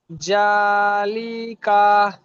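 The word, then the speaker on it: ذٰلِكَ: জবার জা লাম যে লি কাফ জবার কা জালিকা লিকা এ দুটা টান হবে না জালিকা যেমন জালিকা মাশাল্লাহ লামেরটা করেন তো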